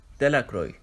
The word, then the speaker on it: Delacroix: detailed de la Cruz the villagers pronounced this name Delacroix eventually made a great